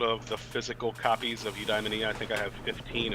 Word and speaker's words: Eudaimonia: Yeah, no matter what syllable you put the emphasis on, you're right to somebody.